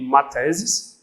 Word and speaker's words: mathesis: Vem de mathesis, um TH, tem uma pronúncia que é parecida com aquela do inglês, né? Aquela como se fosse fezes, uma coisa assim, e que é a doutrina do número abstrato.